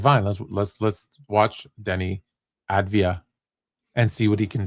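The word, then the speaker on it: Deni Avdija: So I said, fine, let's watch Denny Advia and see what he can do.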